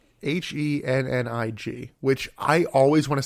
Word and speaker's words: Hennig: Hennig, which I always want to say Kurt Hennig.